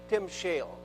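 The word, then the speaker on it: timshel: discuss just briefly the Hebrew word transliterated it's pronounced Tim Shale and it's the word in case um if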